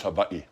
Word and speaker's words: Hawaii: It's Hawaii.